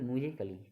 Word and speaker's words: musically: बाद double LY आई तो इसको क्या बोलेंगे, म्यूजिकली। ठीक है, लॉजिकली इस प्रकार से बोलेंगे तो आपको अफकोर्स है कि आपको ये साइलेंट अक्षर आ जाएगा।